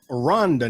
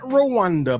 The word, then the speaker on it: Rwanda: us live from africa from ronda not rwanda but pronounced properly please welcome back to